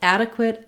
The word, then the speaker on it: adequate: Both adequate and adequacy have first syllable stress, so that means the ad syllable is long and it has a clear vowel. They both have the a, black cat vowel. So if you think about it, it's just like the word add, as in to add